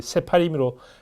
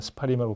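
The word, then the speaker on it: ספרים: 이 경우에는 사실 그냥 스파림 해도 발음이 자연스럽게 된 경우는 그냥 그대로 발음을 해줍니다. 구체 이걸 이제 세파림으로 발음하는 사람들도 있는데 많은 분들도 그냥 스파림이라고 발음을 합니다.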